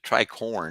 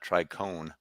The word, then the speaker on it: tricorn: Now, the tricorn, not tricone, the tricorn cap, that's a gang sign for these other people.